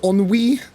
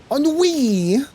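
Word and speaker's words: ennui: up here I guess it's a French word pronounced on we on Wi on wi one two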